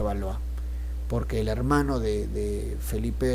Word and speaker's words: Valois: es felipe sexto valor se escribe va lo hizo pero se pronuncia valor porque el hermano de